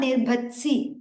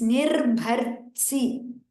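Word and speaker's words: निर्भर्त्सि: Nirbhatsi, the ta and sa, everything is supposed to be heard there. Nirbhatsi. Not Nirbhatsi, it's Nirbhartsi. There's an ir before that, before ta.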